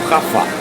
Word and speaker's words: Jaffa: avenue of Jewish Jerusalem Yafo Street or Jaffa Street, depending on how you pronounce it, don't forget to